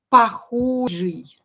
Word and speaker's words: похожий: Похожий. Similar. Similar. Похожий. You can see here that I pronounce «ы», похожий, but for some reason I write «и».